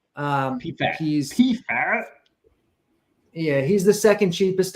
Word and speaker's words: Pfaadt: It's Brandon Pfaadt, or you ever pronounce his name? Pfaadt.